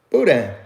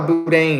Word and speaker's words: boudin: to say boudin boudin it's like it's it's like the bo u part is like boo and then is the DI in Buddha Buddha you know there's people that felt like booting it that's not how I spell it and we don't call it boot day neither okay boo Dane